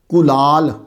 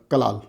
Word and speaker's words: کلال: کلال، پہلے تلفظ پہ غور کر لیں. آپ چھوٹی کاف کے ساتھ ہے. چھوٹی کاف کو اصطلاح میں القاف المعارہ بھی کہتے ہیں. چھوٹی کاف کلال، اصل تلفظ جو ہے وہ کاف پہ پیش ہے.